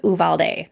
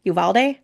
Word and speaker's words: Uvalde: some special work that she did in um Uvalde Uvalde say it right yeah Texas um after the